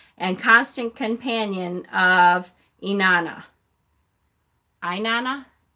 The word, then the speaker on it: Inanna: Inanna?